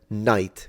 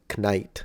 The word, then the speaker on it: Knight: I want to say that Knight is definitely easier to say than knite although then again we do have to remember that but I think I do believe that the K drops around the 15th century I think the K drops before The Vowel Shift has completed a Great Vowel Shift so when it comes